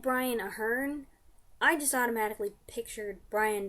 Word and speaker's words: Aherne: no first of all I thought it was Brian Ahern so to find out that I was pronouncing that long was kind of a shock but also when they said Brian Aherne I just automatically pictured